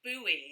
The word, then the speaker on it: Bowie: say buffet oh yes here's an example of a british homophone we pronounce this just as you would pronounce the word boy as in boy and girl bowie bowie that's the way